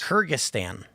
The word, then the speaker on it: Kyrgyzstan: You know, it's Kyrgyzstan.